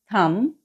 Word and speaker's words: thumb: For example, the very common one, which is thumb. Yeah, you don't pronounce the B in the word thumb.